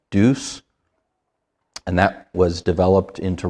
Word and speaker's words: Deus: I think it's pronounced Deus.